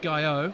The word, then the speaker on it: Gaillot: Adam Gaillot. I think it's Is it Gaillot? Guyu. I spoke to his dad.